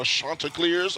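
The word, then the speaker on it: Chanticleers: Joe Catcher, if you didn't know, folks, longtime radio playby-play voice of the Coastal Carolina, Shantaa clears.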